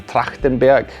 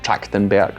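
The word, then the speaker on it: Trachtenberg: This film was uh was directed by Dan Tractenburg. That's how you pronounce his name in German at least. I suppose in America they'll call him Tractenburg or something like that.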